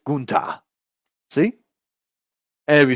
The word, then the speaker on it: Gunther: I really feel like Santos Escobar, uh, oh, Gunta. I'm sorry, not Walter. Gunta. Let me say Gunta. It's fun to say it that way too. Go for it. Goon, like goon. Ta. Yeah, Gunta.